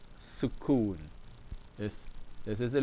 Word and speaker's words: sukoon: So kaf dhamma alone gives you the sound of ku, but with the waw, it gives you ku. So we have su, ku, n, sukoon, sukoon.